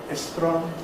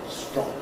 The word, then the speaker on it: strong: So it needs practice because if your language doesn't admit clusters, if you are a speaker of Spanish, Estron or Japanese, then you have to learn about those differences and learn to hear as well as to pronounce strong phonetic rules for regular inflections.